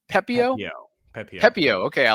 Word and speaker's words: Pepiot: In return, the Rays getting back Ryan, how do you pronounce his last name? Pepiot? Pepiot.